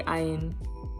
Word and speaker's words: iron: your clothes in bermuda we just say iron as if it's like spelled i o n like in chemistry when you have iron uh we would just say it like that the next one is